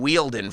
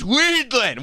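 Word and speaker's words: Wiedlin: Okay, I was pronouncing it wrong. It's Weedland. Why does he keep saying it? It's not Ween, it's Weedland. Jane Weedland from the Go-Os.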